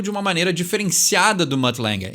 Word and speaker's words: Mutt Lange: Ele deu um polimento muito diferenciado do Mutt Lange, né? Assim que se pronuncia o nome desse produtor clássico da banda,